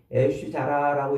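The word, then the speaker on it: אש זרה: 하나님이 명령하지 아니한 불.요 요 다른 불이라는 말은 애쉬 자라라고 이렇게 히브리어로 발음을 하는데 낯선 불 혹은 명령받지 아니한 불이라는 의미예요.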